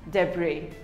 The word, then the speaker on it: debris: it is pronounced as debris the bree the s is silent debris we all have